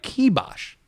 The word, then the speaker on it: kibosh: not yes it is look doing it wrong kibosh doing it right key Bosh unfortunately if you want